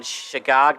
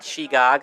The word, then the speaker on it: Shegog: And they're going to go with the pronunciation, Shigog, not Shegog.